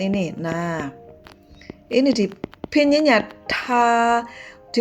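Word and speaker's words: 她: Ucapkannya seperti ta atau ta di dalam pronoun bahasa Indonesia.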